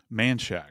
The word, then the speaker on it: Manchac: They concentrated their search along I-55 between Monok and I 10. Is that how you pronounce that? Manshack. Manchack.